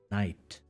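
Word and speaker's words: knight: of the word yes in modern english this word is pronounced night word if i can pick yet another color this is a nice thing about doing this digital just take a lot of colors night it is more or less not this how you pronounce the word um but it used to be pronounced and this historical information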